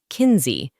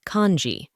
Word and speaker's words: Kinsey: statements she explained that the surname Kinsey which magara interpreted is actually pronounced kanji and is used in